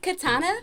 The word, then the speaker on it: Katiana: ain't got nothing okay it's k a a an a c a r m o n and my eye is silent but I'm not so yes so we want to thank Katana for coming out this